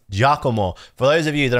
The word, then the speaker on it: Giacomo: It's Giacomo. Please, nobody say Giacomo. That's not how you pronounce this guy's name.